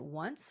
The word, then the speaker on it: once: Now, we say one and once with this W sound.